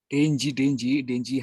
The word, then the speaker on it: dengue: Dengue itu dibacanya apa ya? Denji.